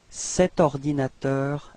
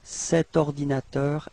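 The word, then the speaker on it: cet ordinateur: masculine so it's set all right so you pronounce it like set ordinator a share okay so actually no pose no break between the the set and ordinator all right right so let's repeat it together set ordinator a share okay and then last example okay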